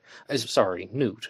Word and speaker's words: Knut: Knut. That's someone informed me that's how it's pronounced.